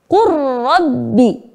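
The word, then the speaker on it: قُل رَّبِّ: Kita leburkan huruf lam kepada huruf ro menjadi qur rabbi.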